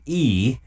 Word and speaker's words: IE: That band is called E, and if you want to Google them, it's easier to look up the name of their album, which is called Junk Body. Okay. And E is spelled I-E.